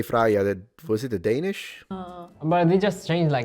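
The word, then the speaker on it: Freyja: Although the j we would mute. We don't say it. Cuz if we did we'd be like Freya. Yeah, I mean same. I think it's also like Freya.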